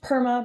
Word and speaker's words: PERMA: So it's pronounced PERMA, but it is an abbreviation for positive emotions, engagement, relationship, meaning, and accomplishment.